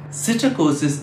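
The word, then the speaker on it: psittacosis: sitter causes of parrots that's with a pea that unlike the parrots is silent cytokosis is a disease that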